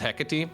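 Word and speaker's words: Hecate: hot point of discussion personally I think it's officially quote unquote officially pronounced hecky but it just doesn't sound right to me so I have decided to mostly go with heckit but I'm still mixing it up about 50% of the time I like that I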